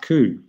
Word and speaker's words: coup: this, this particular play is called a Bath Coup when you've got the Ace, Jack, seven. Can you spell that?